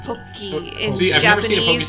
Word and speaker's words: Pocky: It's pronounced Poki in See, I've never Japanese, seen a Pokestick